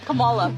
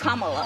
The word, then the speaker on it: Kamala: Earlier you said Camala. Way she pronounces her name is Kamala.